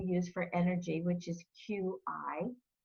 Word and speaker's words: Qi: for energy which is Qi a lot of people don't know how to pronounce it but it's cheap and it's really a